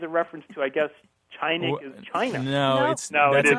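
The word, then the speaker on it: чайник: Oh, so China is a reference to, I guess, tshaynik is China. No, that's a coincidence that they're even. okay. the word that you're talking about that sounds like China is spelled in the transliteration that I use, Tshaynik.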